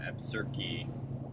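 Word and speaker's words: Absarokee: we hung out that little town of uh absurdky which apparently is the way you pronounce it we got a definitive answer from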